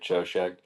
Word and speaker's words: Choshek: I believe the correct pronunciation for it is Hoshek, something like that. We just say it Choshek.